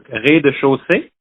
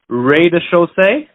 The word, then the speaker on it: rez-de-chaussée: Oh, so you could say it like, in French, it's rez-de-chaussée. You could say rez-de-chaussée, maybe.